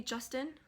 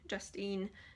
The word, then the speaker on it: Justine: And he called me Justin, like not Justine, like Justine. No, he called me Justin, like the boy name. And I was like, there's an E at the end, please pronounce it.